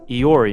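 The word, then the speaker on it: EORI: apply for a so-called e-o-r-i number or better pronounced as iori number iori stands for economic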